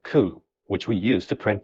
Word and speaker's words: cout: Line 5, cout, pronounced cout, is an object combined